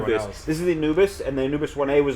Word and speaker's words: Anubis: This is the Anubis, and the Anubis 1A was the shuttle that escaped. Spelled A-N-U-B-I-S? Uh-huh. The Anubis 1A was the stealth ship. It's pronounced Anubis, Egyptian god of the dead.